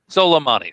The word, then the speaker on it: Soleimani: that maybe his attack on how do you pronounce his name? Soleimani? Huh? Soleimani.